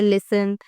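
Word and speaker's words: listen: जैसे लिसन often या फिर कैसल इन वर्ड्स के अंदर आप देखें कि ये जो ऊपर वाले अल्फाबेट्स हैं ये इकट्ठे आए हैं। तो यहां हमने टी को साइलेंट कर दिया।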